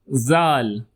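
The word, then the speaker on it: ذال: Next alphabet is zal. Zal. Repeat after me. Zal. It looks like the sound z plus all. So to make it combine it becomes zal.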